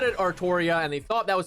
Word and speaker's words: Artoria: artoria that's the thing they're always like guys it's ultria except it's literally always said artoria also there's official merchandise